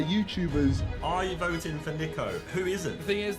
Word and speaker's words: Niko: it's quite a starting uh lineup niko they said my name wrong i can't believe it it's nico not nico i don't know how